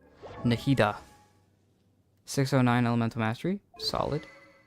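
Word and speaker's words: Nahida: Carib bear name card where Fair all right nitaa 609 Elemental Mastery solid nahita yes the correct way to say it 71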